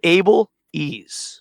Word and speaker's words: Abeles: But think of Able Ease.